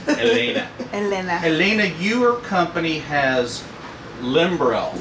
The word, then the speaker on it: Helena: I give her the Spanish pronunciation. Helena.